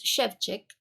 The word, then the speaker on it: Shevchik: She was kind enough to tell me how I'm supposed to pronounce that because I was saying it wrong, and I knew I was saying it wrong, and I'm so glad that she let me know. But it's Shevchik. But this is her newest